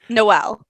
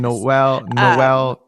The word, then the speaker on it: Nawal: So usually I tell people to think of like Christmas, Noel, but it's spelled much differently.